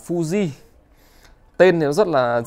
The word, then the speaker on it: Fuji: À, cái này tiếng Nhật thì người ta đọc là Fuji các bác nhá. Còn theo anh em ở Việt Nam, các bác ở Việt Nam thì hay gọi là Fuji.